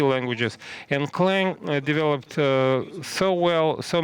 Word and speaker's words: Clang: C and Objective C languages he named it Kang uh some people call it cang uh trust me this is a mistake I asked Chris latner uh personally so the right pronunciation is clang uh C C stands for the a family